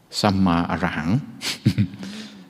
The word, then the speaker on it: Samma Arahang: And discovered that it says Samma Arahang. So the first one of the syllables says Sam, then Ma, and then Ara, and then Hang.